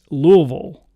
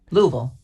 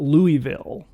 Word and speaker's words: Louisville: long time little though the people who live there say it's louisville louisville and it's not louisville okay it's not new